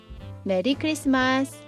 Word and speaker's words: 메리크리스마스: Actually, You can say 'Merry Christmas, but in Korean pronunciation.